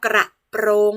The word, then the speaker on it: กระโปรง: บ้าง เอ่ย คำ ว่า กระโปรง นั่น เอง เห็น ไหม เวลา คุณ ครู ออก เสียง นะ คะ คุณ ครู จะ ออก เสียง รอ เรือ ชัด เจน เลย นะ คะ กรับ รุ่น